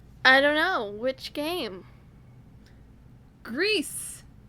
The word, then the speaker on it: Gris: a pronunciation police oh Greece and Gris sound so different though but the pronunciation is gree you were looking for